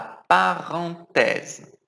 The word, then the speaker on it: parenthèse: O único problema vai ser a pronúncia. La parenthèse.